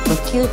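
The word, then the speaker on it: 羽球: 無球と読みます。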